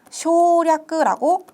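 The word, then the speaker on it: 省略: 요 반성이라고 할 때 요 성은 그 살필성이라고 해서 세이라고 발음이 되었지만 요게 만약에 생략이라고 할 때는 요렇게 같은 한자이지만 쇼략라고 발음을 해주셔야 돼요.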